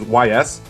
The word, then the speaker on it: Ys: Like the Japanese series YS. It's pronounced Ys.